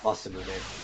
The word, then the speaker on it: Masamune: Is that how you pronounce it? Yeah, Masamune.